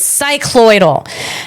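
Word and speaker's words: cycloidal: I'm back with the right pronunciation. I do believe of this cyclloidal.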